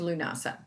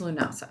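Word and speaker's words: Lughnasa: let's go back to lunasa that is spelled a s l-u-g-h-n-a-s-a and the celtics often say lunas i'm from the south it's lunasa okay let's just get real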